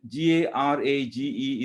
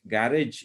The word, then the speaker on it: garage: it's a reservoir and g-a-r-a-g-e is pronounced garage in english but it the you know we tend to pronounce it as garage but it is garage because it's a french loan word and in french language